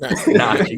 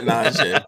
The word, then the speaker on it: Najee: How do you say it? Najee? Najee. Not Najee.